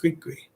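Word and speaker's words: gris-gris: dolls are created as griskris pronounced greekry a form of talismanic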